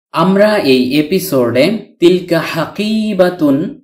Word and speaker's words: حقيبة: তাননুন ব্যতীত শুধু হাকিবা শব্দটির অর্থ হল ব্যাগ, থলি, থলে, সুটকেস, ব্রিফকেস ইত্যাদি। হারাকাতুন উচ্চারিত না হলে এই গুলতাটি বাংলার হ বর্ণের উচ্চারণ দেয়। তাই হাকিবা উচ্চারণ করেছি।